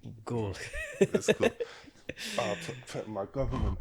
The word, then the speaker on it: Gall: It's Gall. Gall, my bad. Like bull, but with a G. Gall.